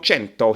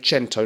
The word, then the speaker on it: Cento: on the channel, MILANO CENTO HOMME. I think you're supposed to say Cento, not Cento.